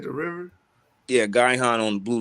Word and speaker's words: Gihon: you can you type up the word uh guy han real quick let's spell it g-i-h-o-n and can you pull it up in the blue letter oh you talking about the gihon spring that's in israel by the way spring